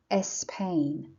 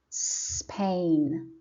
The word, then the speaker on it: Spain: It's not Spain. No, Spain. Spanish.